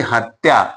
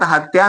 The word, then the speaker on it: हत्या: अगला शब्द है जैसे हत्या। इसमें भी ऐसा ही है। अब इसमें करना क्या है हमें? पहले ये देखना है कि लघु मात्रिक है। बिल्कुल है। और त आधा है। तो इन दोनों को हम क्या है? यहां पर इकट्ठा लिखेंगे और फिर ये दोनों मिलकर के क्या दीर्घ हो जाएंगे। दीर्घ हो जाएंगे। दोनों की एक एक मात्रा हो जाएगी। मतलब दो मात्राएं हो जाएंगी।